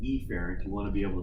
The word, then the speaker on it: efferent: see a carrot and it is pronounced a parent and each parent you want to be